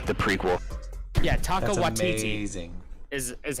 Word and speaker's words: Waititi: Yeah, Taka That's Waititi amazing. is how you Yes.